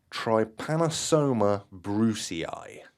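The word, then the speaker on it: Trypanosoma brucei: because this one's quite a hard one to pronounce trypanosoma Brucie nailed it that's exactly how you say it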